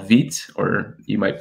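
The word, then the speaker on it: Vite: i experimented with recently was this tool called veet or you might pronounce it vita but it's feet um and it uses a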